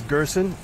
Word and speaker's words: Gerson: My name is Gerson. It's like person, but with a G.